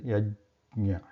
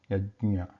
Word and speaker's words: यज्ञ: We should not pronounce it as a the, yajna. It is yajna, yajna.